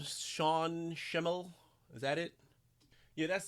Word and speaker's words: Sean Schemmel: Sean Schemmel. Is that it? Yeah, that's it. Sean Schemmel. I think that's how it's pronounced.